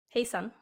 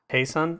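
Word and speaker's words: hej så: ] he said head how do you say that hej sa n hey son hey son ok so Jays are wise yeah that's why a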